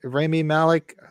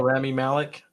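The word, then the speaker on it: Rami Malek: rat's ass they understand the truth save me Remy Malik how do you say his name that was that was got to play Freddie Mercury right oh Ramy Malik yeah appears again as Freddie Mercury and that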